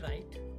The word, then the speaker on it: write: कब होता है वो, जब W के बाद R आ जाए या W के बाद H आ जाए तो W का कोई भी उच्चारण नहीं करते हैं। तो एग्जाम्पल आप देख लीजिएगा ताकि आपको अच्छे से समझ आ जाए। जैसे कि WRITE राइट, तो हम यहाँ पे W आया ज़रूर है लेकिन W से हमने कोई उच्चारण नहीं किया, डायरेक्ट राइट से किया।